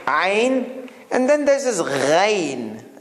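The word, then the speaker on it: غين: So ayn, and then there's this ghain. And it's easy, like it's like G and H kind of sound.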